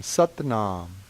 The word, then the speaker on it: Sat Nam: In Kundalini Yoga, the main mind vibration or mantra is Sat Nam. S-A-T, pronounced a little bit like S-U-T, Nam, N-A-M, Sat Nam.